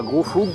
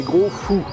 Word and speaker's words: Gros Foug: de me faire reprendre, on ne dit pas Gros Fougue mais Gros Fou, le G ne se prononce pas, comme les Z à la fin de certains mots.